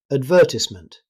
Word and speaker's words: advertisement: Advertisement. In British English, advertisement. Notice that the stress is on the first syllable of vert, not on ties, so advertisement.